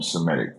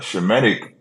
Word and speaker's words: Semitic: Like Jewish people try to own that term Semitic, but Shemitic, with the proper way to say it, Shem, it just means you descend from Shem.